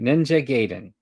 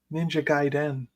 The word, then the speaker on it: Ninja Gaiden: You're the pronunciation dude. Mumiji. All right. Ninja Gayen. Ninja Gaiden.